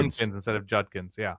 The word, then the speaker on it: Judkins: j j instead of Judkins yeah he says junkins I double check the pronunciation guide on the Ohio state official football website and they don't have anything that says you should say it junkins okay so Herby calls